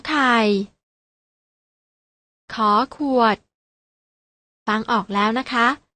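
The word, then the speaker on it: ฃ ขวด: ข ไข พยัญชนะ ตัว ที่ 2 อ่าน ว่า ข ขวด น้อง ๆ อ่าน ออก เสียง ตาม นะ คะ ข ไข่ ข ขวด ฟัง ออก แล้ว นะ คะ ว่า ออก เสียง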